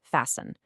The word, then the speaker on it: fasten: Next up is fasten. Now, this one's a little tricky. That T in the middle is totally silent, so it's pronounced fasten.